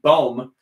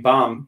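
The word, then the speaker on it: Bohm: here on the broadcast that it is alec baum so i will never make the mistake again of saying bomb take me bomb country roads you don't have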